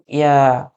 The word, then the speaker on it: ي: ইয়া উচ্চারণ করার জন্য আপনাকে খুব বেশি কষ্ট করতে হবে না, জাস্ট ভালো সিম্পলি উচ্চারণ করবেন মুখ দিয়ে, ইয়া, ইয়া, ইয়া।